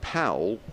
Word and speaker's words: Powell: the Town end and Powell pronounced pole house at the count